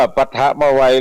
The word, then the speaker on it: ปฐมวัย: ปัจฉิม วัย ดัง นี้ อ่าน ว่า ปะทะ มา ไว หรือ ปฐมวัย นั้น คือ ก็ ไว้